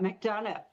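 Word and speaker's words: McDonough: Well, it's named right after the town you were just talking about, Mcdana.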